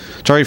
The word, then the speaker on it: Chawy: Chawy, first off, that's how I say it, right? Yep, I'm Chawy. Okay. I always like to make sure I get the pronunciation right.